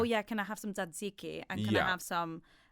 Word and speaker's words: tzatziki: I wouldn't say the way that an English person would say it, but that's because I'm Greek.